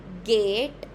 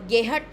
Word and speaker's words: geht: यह इसकी प्रोनाउंसिएशन है यहां पे वी गेट एच साइलेंट रहता है एक तरीके से। अ गेहट नहीं होगा यह।